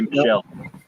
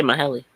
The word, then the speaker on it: Michele: yeah, 'cause I know because it looks like it should be Michelle. Yeah, How is it pronounced? I say Maheli.